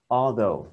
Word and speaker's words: order: Ừ cái to order order nhân vần đầu tiên order Ok ở trên